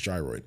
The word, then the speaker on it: gyroid: The word gyroid is pronounced with a J. That sound is at the beginning similar to euro rather than a hard G sound. Uh the correct pronunciation is gyroid.